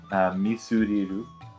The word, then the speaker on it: ミスリル: Misuriru, actual Japanese pronunciation.